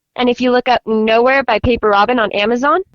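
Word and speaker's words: Knowhere: It's a fantasy novel called Nowhere, but it's spelled with a K at the start. So it's k n o w h e r e.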